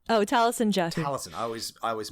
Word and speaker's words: Taliesin: Taliesin. I always mispronounce it.